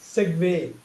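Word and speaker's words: segue: ஒரு தமிழ் வார்த்தை மாதிரியே மாறின மாதிரி செக்வே. இப்படிதான் செக்வேன்னு அவங்க உச்சரிப்பாங்க பிரான்ஸ்ல.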